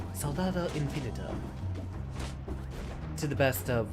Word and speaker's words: Soldado: There's no L there. There's no second L there. Soldado.